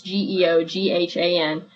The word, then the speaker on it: Geoghan: He's the guy, I think I'm pronouncing his name correctly. It's Geoghan.